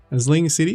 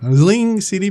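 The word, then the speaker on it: Zlín: Zlin City? No, you can't say the Z. I can't do it. Zlin City, but you got to somehow put it in there.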